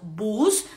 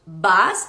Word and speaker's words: bus: vieran la palabra autobús no diríamos bus sino que diríamos bas Y por último último